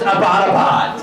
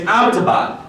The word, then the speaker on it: Abbottabad: And she's like, yeah, and it's not pronounced Abbottabad. I was like, oh, how do you say it? She was like, it's Abbottabad.